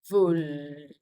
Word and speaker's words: veulent: Je veux, tu veux, il, elle veut, nous voulons, vous voulez, il, elle veulent. The L is pronounced. That's it. Don't worry, the ENT isn't pronounced.